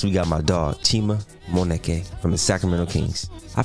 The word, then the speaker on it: Moneke: Moneke. Is that how you say it? Yeah, that's perfect. I said it right the first time.